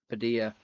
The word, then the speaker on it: Padilla: Is it Padilla? Is that how you say it? Fernando Padilla. Padilla. It's like quesadilla.